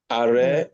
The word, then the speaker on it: arrêt: That tells you already that is what? A. Yeah. Arrêt, forêt, prêt, Mm-hmm.